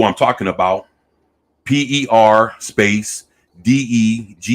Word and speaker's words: Degaton: how Megatron is spelled but degaton spelled exactly how it sounds like I guess if